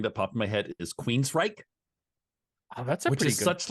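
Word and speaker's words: Queensrÿche: popped my head is Queen's Reich which is such like just because it's spelled so unexpectedly they got Queens correct right and then the end is r-y-c-h-e how do they do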